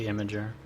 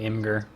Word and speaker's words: Imgur: I think it's supposed to be Imager, but I always call it Imgur.